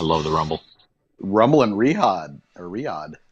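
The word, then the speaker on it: Riyadh: Rumble and Rihad or Riad. How do you pronounce that? Riad or Rihad? Riad. Riad. Riad.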